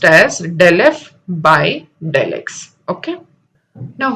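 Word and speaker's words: ∂f/∂x: Now this is pronounced as del f by del x.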